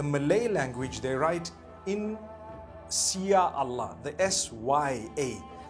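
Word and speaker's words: Insya Allah: If you look at, the Malay language, they write in Sia Allah, the SYA. They pronounce the SY the way we pronounce SH.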